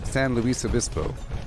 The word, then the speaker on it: San Luis Obispo: I think we still pronounce the S. Pretty sure. It's San Luis Obispo.